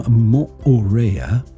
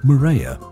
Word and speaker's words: Moorea: Polynesia mayeva welcome to part two the name Moorea commonly called murraya which is the incorrect pronunciation means yellow lizard in Tahitian and we